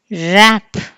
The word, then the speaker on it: wrap: Wrap, W is silent.